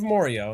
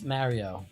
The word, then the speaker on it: Morio: In this case, it's the town of Morio in 1999. It's Mario. You're pronouncing it wrong.